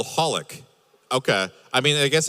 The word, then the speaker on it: xxxHOLiC: The anime I'm recommending is called Holic, although it's spelled XXXHolic.